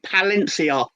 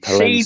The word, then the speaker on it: Palencia: You need to Google a kit from a team called CD Palencia. Rhymes with Valencia from 2016.